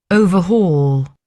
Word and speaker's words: overhaul: So, the verb is pronounced overhaul. Overhaul. Um and they're saying here it's overhaul is is is the other way, I think. So then and the noun is overhaul.